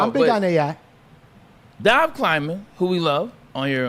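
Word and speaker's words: Dov Kleiman: It's I thought his name was like Dove Climbing. It's another. It's Dive. Yeah, it's Dive Climbing.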